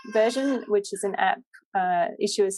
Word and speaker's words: Issuu: If you're a member, you get the latest issue.